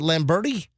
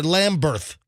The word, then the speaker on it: Lamberth: Is it Lamberti? Oh, I'm sorry, Lamberth. Yeah, the print is really small on my phone.